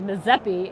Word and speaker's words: Mississippi: he told me that Mississippi is pronounced Mazeppi in their language, and it means big river.